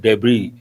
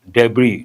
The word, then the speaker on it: debris: A wreck and small small parts scattered everywhere we use word debris. S is silent. What is the spelling? H very good. Who is this? Uh Hershey. But remember the letter S is silent. Debris, not debris.